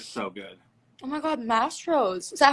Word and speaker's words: Mastro's: Oh my god, Mastros.